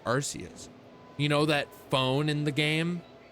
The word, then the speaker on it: Arceus: And it was just Small Ant talking about Legends Arceus and being like, I've seen people playing Legends Arceus recently, and it's like, yeah, because he pronounces it Arceus because he's Canadian.